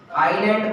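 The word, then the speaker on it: island: आइलैंड बोलते हैं। Yes silent होता है, क्या होता है? आइलैंड। इसमें यस क्या है? साइलेंट।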